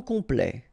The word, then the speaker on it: complet: and then complet, okay, here a T at the end will open it, the sound of the E, so E, okay, ple, complet, complet, and then OM is